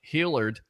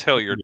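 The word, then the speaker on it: Hilliard: Uh, Ike Hillard, uh, former Florida Gator, former Bucks receiver now. Yes. Ike Hillard. Yeah. Yeah. It's It's Hillyard, but you can't pronounce any Gator name.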